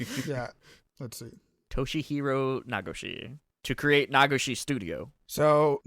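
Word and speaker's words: Toshihiro Nagoshi: Yeah, so that's Toshiro Nagashi. Yeah, so he started his own studio. Toshihiro, mispronunciation. Yeah, let's see. Toshihiro Nagashi.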